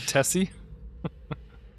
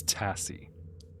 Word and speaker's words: Tassy: I believe it's Tassy, not Tessy.